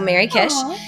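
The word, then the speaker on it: Merrykish: Instagram, Blue Sky, uh, under my name, but it's spelled M E R R Y K I S H. So, Mary Kish.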